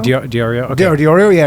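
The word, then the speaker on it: Di Iorio: I co-hosted the show once in Toronto, and one of the Ethereum guys, I think Anthony D'Onofrio, Diorio, okay. Diorio, yeah, right. I might be pronouncing.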